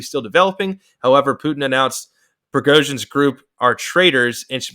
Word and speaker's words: Prigozhin: I know how to say his last name, Prigozhin, who is Putin's former best friend per sources,